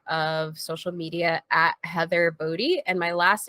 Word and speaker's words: Boddy: I know it looks like body, and sure, it would be cool if that was my last name because I'm a fitness professional, but it's not. It's Boddy.